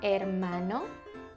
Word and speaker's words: hermano: Do you have a brother, un hermano, or a sister, una hermana? Brother and sister in Spanish is hermano y hermana. It starts with an H, but you don't really pronounce the H.